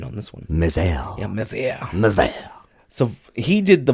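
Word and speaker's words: Mézières: I had to look up the pronunciation on this one. Mézère. Yeah, Mézère.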